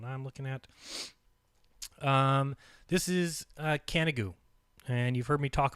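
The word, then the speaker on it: Canigou: you to do is look up canna goo it's actually CA ni g o you pronounced can't go from a loose france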